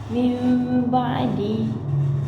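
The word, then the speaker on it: مِنْ بَعْدِ: atas huruf nun dan cara membacanya adalah a dengan mendengungkan dan merapatkan kedua bibir min ba'di.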